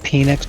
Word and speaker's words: Penix: well you know what penix rhymes with Phoenix so I think he's